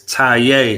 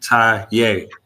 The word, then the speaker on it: Taye: you pronounce it okay it's ta like you tying your shoe ta okay very good now